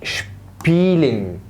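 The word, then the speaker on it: spielen: الحرف اللي بعده الاس بي، الاس بي تنطق اشب اشب اشب، زي كلمه شبيلين.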